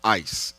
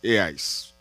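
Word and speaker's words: εἰς: When Jesus said, whoever believes in me, in the original text, the word he used is a Greek word that is pronounced eis, eis, E-I-S.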